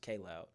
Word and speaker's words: Kaj Loud: mispronouncing my name, but it's actually pronounced K Loud. K Loud. Yeah. See, I was just reading it said See, KJ.